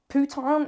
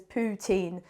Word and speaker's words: poutine: it's not pronounced pan I was taught in French that if it's I ne E ending you say uh putan is a very rude word I don't think I should even be saying it do not say that it is poutin so also Canadian French